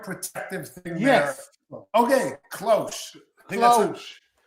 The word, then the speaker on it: cloche: So Planton says it's cloche, and it's a garden protective thing. Yes. There. Okay, cloche. Cloche. I was probably pronouncing that H a little hard, but it's okay.